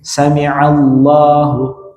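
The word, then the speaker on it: سمع الله: Sami'a harusnya dengan ain. Sami'allahu, ya, sami'allahu liman hamidah.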